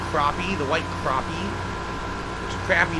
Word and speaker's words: crappie: It's pronounced crappie, the white crappie.